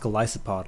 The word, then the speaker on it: Golisopod: the golisopod go isopod I think it's pronounced golisopod like Goliath so I want to